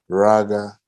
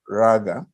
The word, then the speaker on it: rāga: is it talks about raga vinaya suta i don't need to explain the word suta you know discourse but rag is a very very important word it's a long a uh actually it means